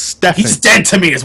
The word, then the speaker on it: Stephen: His name is pronounced Stefan.